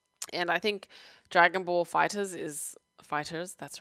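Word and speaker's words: Dragon Ball FighterZ: by Bandai Namco themselves the fighters pronounced that way not fighter Z not fighters Z fighters so yeah I've pretty adapted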